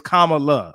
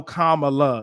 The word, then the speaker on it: Kamala: It's Kamala. I said it right. Gotcha. Now I'll be saying I go in between, but I know Kamala is the way to say it.